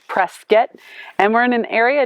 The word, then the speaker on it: Prescott: today from prescott arizona it's spelled prescott but the locals say press get and we're in an